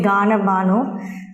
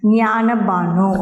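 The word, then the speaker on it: Jnana Bhanu: So, he started a new monthly newspaper called Jnana Banu, known as Jnana Banu. The G is silent here, don't say Gana Banu, Jnana Banu, okay.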